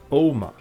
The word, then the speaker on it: Ogma: Now in myth it was invented by the god Oma, but in Old Gaelic pronounced Ogma, who was its father, while the chisel used for the inscription was its mother.